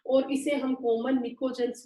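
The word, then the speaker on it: pnictogens: ठीक है, और इसे हम कॉमन निकोजेंस भी बोलते हैं। पी यहाँ पे साइलेंट है बेटा, निकोजेंस मतलब कुछ पॉइजनस गैसेस इससे बनती है।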